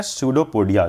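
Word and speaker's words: pseudopodia: क्या बन जाता है सूडो पोडिया जिसकी स्पेलिंग एक चैलेंज है सूडो पडिया सब लोग याद रखना ठीक है याद रखना कि पी से स्टार्ट होती है फिर फूड वकूल फूड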